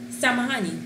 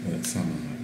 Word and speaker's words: Samahani: Samahani. Samahani.